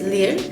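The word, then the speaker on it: 리을: the next consonant is lyr the way you pronounce this one is uh it has a r and l type of sound to it the way i remembered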